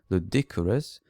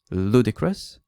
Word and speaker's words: ludicrous: She pronounced it something like ludicrous, putting the stress on the wrong syllable. So I said, okay, the word is pronounced ludicrous, the stress is on the first syllable, and it means something like crazy or ridiculous.